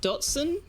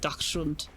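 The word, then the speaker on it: Dachshund: Ironically, everyone you know that owned a Dashund pronounced it Dotsson. Well, then they don't know how to pronounce German words. I It's actually not Dashund either. It's more like Dashund. Not that I'm going to pretend to be an expert at uh German pronunciation, but it's certainly not Dodson.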